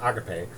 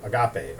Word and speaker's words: agape: love, eros, philia, and agape. At any rate, there's passionate love, and then there's compassionate love. Compassionate love is probably equivalent to agape, or agape, however you want to pronounce it.